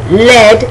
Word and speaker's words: led: another word is uh spelled differently but pronounced the same l e a d